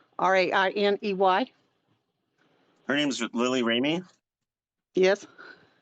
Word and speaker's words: Rainey: Lily Rainey, Rainey. Her name's Lily Ramey, Yes, like you. yes. So Lily Ramey, right? Did I say it right? Right. Rainey, Rain is in Nancy, EY. Rainey.